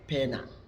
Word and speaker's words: poena: Poena, dibaca pena.